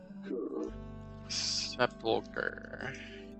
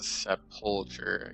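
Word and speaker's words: sepulcher: Sepuler. I think I said separ. I kind of like put emphasis on the wrong area.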